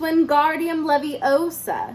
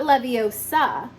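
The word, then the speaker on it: Wingardium Leviosa: heard her miny snap it's guardium Leviosa not Leviosa make the gar nice and long you do it then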